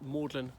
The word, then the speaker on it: Magdalen: Mailand Here I am maudlin College Oxford if you want to find it make sure that you spell it correctly it's spelled Magdalene so it's dedicated to